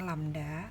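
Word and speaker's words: lambda: dengan lamda nah ini simbolnya seperti ini itu dibacanya lamda Hai dengan satuannya Hai Nah untuk panjang gelombang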